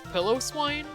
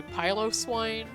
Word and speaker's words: Piloswine: in the anime, but I used to think it was Piloswine. I didn't find out until like several years later that it was actually Piloswine, from the word Pylos, which is another word for hairy.